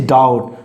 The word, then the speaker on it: doubt: Don't say like this, doubt, this is doubt. So B is hidden, B is understood, and B is silent.